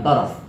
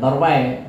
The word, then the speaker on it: torfai: Bacanya bukan torof. Kalau torfun itu mata, kalau torof itu pihak, dua pihak yang berkomunikasi. Torofai. Ya, bacanya dengan torfai.